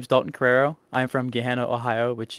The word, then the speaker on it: Cararo: to mess your last name up so is pronounce it for me uh Carrero Carrero thank you very much Dalton I appreciate that